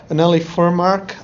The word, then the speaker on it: Anneli Furmark: can tell us yes it's like it's more of a a in the beginning I think the Swedish um pronunciation is so beautiful I don't know it is a kind of like a lull and then an emphasis at the end I've heard the expression